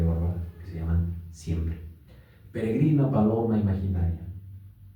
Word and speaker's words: peregrina: Y como dato curioso hay dos poemas en Castle Bárbara que se llaman siempre peregrina, paloma, imaginaria. Sabemos que peregrina tiene el acento en la penúltima gr.